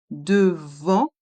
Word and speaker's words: devant: Devant. Ici, il y a le son en avec les lettres A et N et aussi le son en dans le mot boulangerie. Le T de devant est muet.